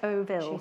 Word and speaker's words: Decovil: Another thing I can't pronounce. No change there. How do you say it? Decaville. Yes, Decoville.